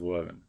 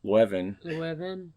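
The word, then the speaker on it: Leuven: recently visited last summer the Catholic University of Wan. The university opened its doors in the year 1425. That's pretty old. Wow. I'm probably not pronouncing it right, but Levven.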